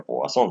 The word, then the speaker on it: Poisson: la encontró hembra entonces pero se escribe poison y se pronuncia pozón o sea por el origen francés y su pronunciación así